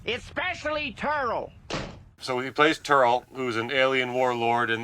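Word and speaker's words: Terl: Terrell. It's spelled T-E-R-L, so it's...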